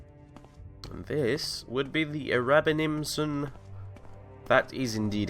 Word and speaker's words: Erabenimsununmisnunninum: And this would be the Erabenimsununmisnunninum. That is indeed how you pronounce it.